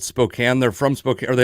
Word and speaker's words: Spokane: Well, I heard Klaus Meine of Scorpions pronounce it Spokane one time when I saw them at the Monsters of Rock show many moons ago. So the people of Spokane get very mad about that, and then phonetically it is Spokane.